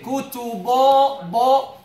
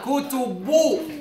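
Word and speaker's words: كُتُبٌ: Some many people they say kutubo bo. What's the haraka? What's the first haraka of the ba? It is dhamma. Kutubu. So you should say bu.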